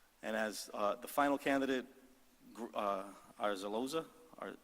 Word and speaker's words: Azarloza: And as the final candidate, Azarloza, or Azarloza, how do you pronounce it? Azarloza.